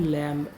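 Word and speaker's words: lamb: Word है लैंप एल ए एम बी। तो यहां पर भी बी साइलेंट है।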